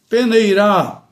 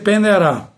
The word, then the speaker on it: peneirar: Pode ser do caso aleijar fechada, peneirar fechada. Então você não, você não pode dizer penear, como a gente fala no dia a dia.